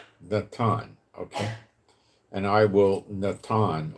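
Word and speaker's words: נתן: Now, there's a word for place, and it's Strong's number 5414, and it's pronounced Natan, like Natan, okay?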